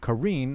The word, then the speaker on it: Karin: me know at home I've always been saying Karen I think mostly in the community have been saying Karen but apparently it's pronounced uh Karine and I've had some comments say you know